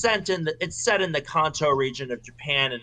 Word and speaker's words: Kanto: Yeah, it's actually Kanto. It's not Kanto, but Yeah, whatever.